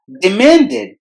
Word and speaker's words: demanded: demanded the man did demanded look at the end of this word the spelling ends with d-e-d but we have to pronounce that part as did demanded demanded demanded marriage marriage